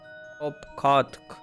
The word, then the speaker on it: Opkard: As for nomenclature to address my individual person, I believe it would be pronounced Opkard. Yes, Opkard of the ear.